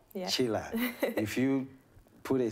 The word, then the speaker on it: Tshila: quite unique there are very few people called chila out there and the way it's spelled t s h i l a if you're not careful you'll probably say tishila yes yeah a lot of people say that they go to sheila but and you know it's